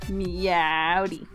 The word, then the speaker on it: Meowdy: you always gotta say it like Lasso says it. Meowdy. Yeah, you gotta really draw out the ow part of it. Like you just stubbed your toe.